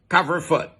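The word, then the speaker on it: couvre-feu: Or as the French used to call it, cover-foot. You know, that's the Belgian pronunciation, but it's fairly close to the French one here, we're telling you.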